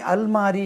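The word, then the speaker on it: almirah: उसके बाद अल में अलमारी एक लब्ज है देखिए अलमारी इसको अल्मेरा कहते हैं इसकी स्पेलिंग हिजा जानने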